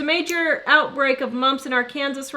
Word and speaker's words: Arkansas: There's a major outbreak of mumps in Arkansas right now. They are blaming... That would be Arkansas to the rest of you.